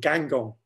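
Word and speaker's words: Guingamp: small town in Brittany called Gangong, which sounds almost Chinese, doesn't it? Or Oriental, certainly not French, but it is French and it's spelled G-U-I-N-G-A-M-P. And I started it the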